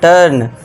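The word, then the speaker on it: turn: जब वर्ड में यू के बाद आर आए तो यू को अ से पढ़ें यानी कि शॉर्ट अ से पढ़ना है। अब देखिए यू के बाद आर है तो यहां पे आपको अ का साउंड देना है।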